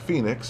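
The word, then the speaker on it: Phenix: doesn't sound like phonics it sounds like phoenix and uh and e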